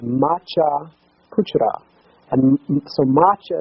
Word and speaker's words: Matsya: And so Macha is the way the Nepalese say the name Matsya, M-A-T-S-Y-A, as is spelled in the Vaishnava version of the Lord's name.